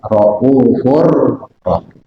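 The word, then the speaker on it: رَءُوفٌ رَحِيمٌ: Bil mu'minina raufun rahim. Karena tanwin ketemu roh itu dibacanya idgham bila gunah, makanya dibaca raufur rahim.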